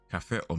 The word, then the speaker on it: og: Or you don't pronounce the G. Or cafe or milk. Kaffe og melk, takk.